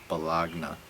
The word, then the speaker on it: baloney: word to spell baloney not at all how you say it because it sounds like balagna cool that's just a